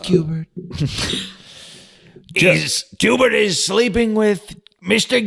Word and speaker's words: Schubert: It's pronounced Cubert.